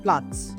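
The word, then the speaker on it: Platz: Next है अगर ट के साथ जेड लगा है तो ये साउंड आएगी। फॉर एग्जाम्पल प्लेस को बोलते हैं प्लाट्स। तो जब भी जेड, टी और जेड लगाए तो टस की आवाज आएगी।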